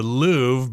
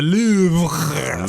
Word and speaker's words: Louvre: And I think most people speaking English would say the Louvre, but with a lot of French words, of course, you'll sound really cool. You'll sound really sophisticated if you know how to pronounce the word in French, in Francais itself. So I think you're supposed to say the Louvre, something like that.